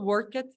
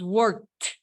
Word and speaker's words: worked: Para work en pasado, work it no es work it, es worked con T. Worked.